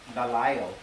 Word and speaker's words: Delisle: And then Jesse, and then last name, you can say Delisle, but it's Delisle. Pronounced like that, Delisle.